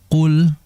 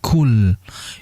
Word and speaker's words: qul: Jadi hati-hati untuk pengucapan huruf qaf. Jangan sampai kita ubah menjadi kaf sehingga menjadi kul. Yang betul adalah qul. Qul ya, sangat berbeda antara kul dengan qul.